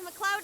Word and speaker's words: MacLeod: Yes, MacLeod is how you would normally pronounce that.